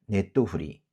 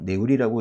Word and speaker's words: ネトフリ: 그래서 일본에서 주로 줄여서 쓰는 말은 네토후리. 요 작은 째 있죠? 요게 지금 없는 거예요. 그래서 넷토가 아니라 네토후리. 어떤 분들은 이 토도 생략을 해서 네우리라고 읽기도 한다고 하는데, 그래도 일반적으로 많이 쓰는 그런 약칭은 네토후리입니다.